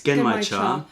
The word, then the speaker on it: Genmaicha: That's the, how do you pronounce it? It's Genmaicha, which is popcorn tea.